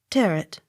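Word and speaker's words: Tyrwhitt: a y n e tremaine accent on last syllable t-y-r-w-h-i-t-t tear it g v-a-u-g-h a n vorn v a u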